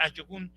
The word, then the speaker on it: ajogun: Los ayogun, si ustedes buscan la palabra, se escribe ajogun con J, pero se pronuncia ayogun.